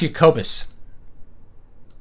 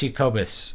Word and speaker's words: Jacobus: It's pronounced Jacobus. Pronounce Jacobus. It's Dutch. I almost named my son